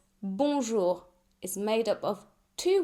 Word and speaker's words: bonjour: Bonjour. The O N make one vowel sound and it's a nasal vowel sound. So like O but instead of the air coming out of your mouth, it also comes out of your nose.